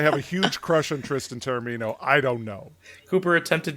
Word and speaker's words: Tristan Taormino: Say her name again. Tristan Taormino? No, you know how I want you to say it. Tristan Taormino! There you go, Cooper. That's how she wants me to say it.